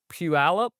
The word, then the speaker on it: Puyallup: want to get to help me pronounce Puyallup Yes. or Good Puyallup.